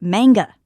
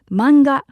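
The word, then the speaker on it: マンガ: In English, you pronounce it manga, but actually in Japanese, it's manga because we don't have that a sound that we have in English.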